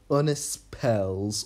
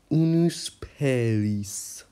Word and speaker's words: Unuspelis: I'll call this kingdom Unispels, or one skin. Correction, it's pronounced Unuspelis.